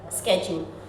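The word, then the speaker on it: schedule: Second truth, sleep शेड्यूल स्केड्यूल। Yes, correct pronunciation, स्केड्यूल, sleep स्केड्यूल।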